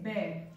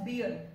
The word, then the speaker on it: bear: सो the next commonly मिसप्रोनाउंस्ड word is बेयर. इट इज an animal. People pronounce it एज बियर, बट इट इज नॉट बियर. The correct pronunciation is बेयर, बेयर एंड नॉट बियर.